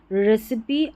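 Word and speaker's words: recipe: देखिए यहां पर देखिए फिनाली रेसिपी और यहां है सिमिली। सभी में इ उच्चारण इस इ का उच्चारण हो रहा है।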